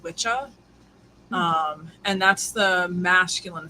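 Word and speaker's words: wicca: So, the the word wikah um actually comes from old and middle English, but it would have been pronounced witchah.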